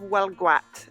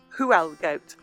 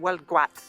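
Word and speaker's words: Huelgoat: can see some of well gwat and the name of our village is written whoa gate h-u-e-l-g-o-a-t so it looks like who else goat but it's breton not french breton and the pronunciation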